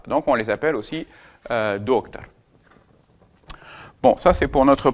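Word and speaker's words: доктор: Donc on va voir doctar. Voyez la différence entre les deux et non pas doctor.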